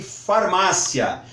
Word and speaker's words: farmácia: mesmo grupo de farmácia farmácia no passado era escrito com ph e muitas pessoas resultaram e aceitar a nova escrita sem o PH queriam que farmácia continuasse sendo pronunciado com ph agora porque que nós vamos utilizar o PH se essa palavra se o pH Não é pronunciar é pronunciado como efe Então nada mais justo